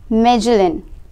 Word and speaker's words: Magellan: Around 500 years ago, Ferdinand Magellan, pronounced Magellan, a Portuguese sailor, started his journey from Spain to study the shape of the earth.